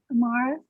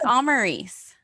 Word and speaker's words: Amaris: be far behind hey amara i have is that how you pronounce your name i read it all the time and i'm not sure how to pronounce it no worries it's amarys i'm maurice okay um